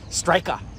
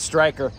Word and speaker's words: Styrkr: s-t-r-y-k-r on the materials they say it's pronounced strika but that's like British right I'm American so I'll call it striker in in uh they